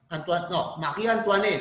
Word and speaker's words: Marie Antoinette: María Antoniette, Marie Antoinette se pronuncia en francés, ¿no? Marie Antoinette.